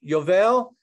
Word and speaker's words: Yovel: o'clock at night i may have misspelled it yovel spell it peggy okay y-o-v-e-l so that picture feeling